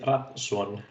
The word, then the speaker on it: Rafnsson: In my language, you would say Rafnsson, but the FN sort of sounds like a B, but any approximation thereof is fine.